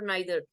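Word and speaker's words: neither: Quantifiers, all, each, every, both, आइदर और नाइदर। आइदर नाइदर भी बोलते हैं इसको, इधर नीदर भी बोलते हैं, दोनों तरह से आप इसको प्रोनाउंस कर सकते हैं।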